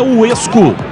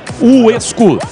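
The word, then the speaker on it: WESCO: A pronúncia é Uesco, mas escreve-se W-E-S-C-O. Uesco, a marca de ferramentas elétricas que mais cresce no Brasil.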